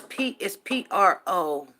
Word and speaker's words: prophet: Yeah, it's PROPHET. Prophet. It's not a prof with an F. The H is the PH is pronounced with a it's pronounced like a F, but the PH, like